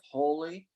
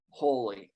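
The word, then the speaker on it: Holi: a lot of celebrations you've probably heard of holy which is spelled h-o-l-i yeah with the flowers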